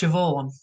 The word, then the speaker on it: Siobhan: the irish one siobhan it's not even got a v in it it's it's it's spelled ceo but it's pronounced siobhan how does that even